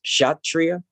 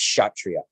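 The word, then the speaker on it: Kshatriya: the the shot trios right spelt um it's pronounced chatria but it's it's spelt like k-s-h-a t-r-i-y-a like that's but it's pronounced chatria or some or something close to that right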